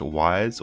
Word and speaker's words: Ys: Today we're playing Ys for the Master System. This is the first game in the Ys series, which is sometimes pronounced Ys or YS. It's literally just spelled YS, and often tagged with the Vanished Omens.